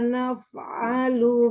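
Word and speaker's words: نَفْعَلُ: Kadzalika naf'alu bil mujrimin. Fa-nya kurang keluar udara. Harus keluar udara. Naf'alu. Basah ya, fa-nya.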